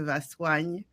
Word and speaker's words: Vassoigne: The French pronunciation of it is de Vassoigne. So Oh, De Vassoigne. think swan, the Uh-huh. bird, de Vassoigne.